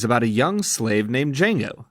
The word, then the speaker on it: Django: a young slave named Jango the D is silent and his partner in crime a german bounty hunter named dr.